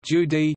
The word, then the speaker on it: Jude: The German word Jude is pronounced Judi, the corresponding adjective Judish, Jyd, Jewish, is the origin of the word Yiddish.